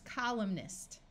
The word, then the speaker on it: columnist: Here we have column with a silent N, and when we add the suffix ist, it becomes columnist.